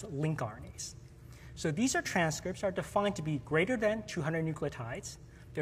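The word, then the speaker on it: lncRNA: But on the other hand, there were these large numbers of transcripts which ultimately got named long non-coding RNAs, which I'll pronounce the abbreviation as link RNAs.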